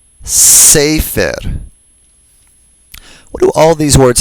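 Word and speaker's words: ספר: And for scroll, sefer, sefer. What do all these words have in common? Take a moment. They're all penultimately stressed. That is, they all have stress on the second to the last syllable.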